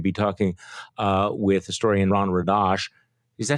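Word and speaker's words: Radosh: You're going to be talking with historian Ron Radash. Is that how you pronounce the name? I'm sorry. Radash.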